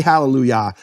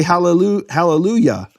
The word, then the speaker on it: hallelujah: In fact, in English churches, they pronounce the Yah of hallelujah correctly. They don't say hallelujah. They say hallelujah.